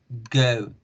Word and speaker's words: go: No decimos go, decimos go, oh, oh, oh, go.